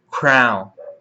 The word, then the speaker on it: crayon: E o mais estranho de todos os modos pela qual essa palavra é transmitida, crown, que é a mesma pronúncia da palavra crown, coroa.